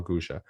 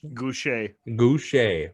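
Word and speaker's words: Gausha: And number 14, which you were the only one who had him ranked, was Terrell Gusha. That was not how I say his name. What? Goucher.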